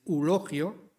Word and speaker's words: Eulogio: un viejo conocido nuestro el señor eulogio ahora ya en su pronunciación más popular con la aféresis elogio elogio típico del habla de madrid el zapatero remendón vive